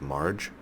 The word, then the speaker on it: Marg: I keep saying Marg. Somebody pointed out to me it's Marge. So it'd be Margaret, but the short would be Marge.